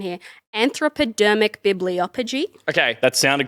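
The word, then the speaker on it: anthropodermic bibliopegy: all about uh and i'm gonna butcher the pronunciation here anthropodermic bibliophogy okay that sounded correct thank you so i'm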